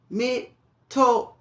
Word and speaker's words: mitote: Mitote is the pronunciation.